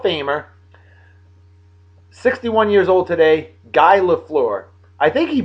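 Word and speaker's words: Guy Lafleur: 61 years old today guy laflor I think he pronounced it gee GE laflor that's how he pronounced it in French he played for the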